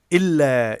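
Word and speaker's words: إِلَّا: Illa is two long syllables. The first is il plus la.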